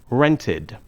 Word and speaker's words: rented: For example, rent ends with the sound t. So we pronounce the ed ending id. Rented. Decide ends with the sound d. So we pronounce the ending id. Decided. The pronunciation id adds an extra syllable to the verb. Rent has 1 syllable. Rented has 2 syllables.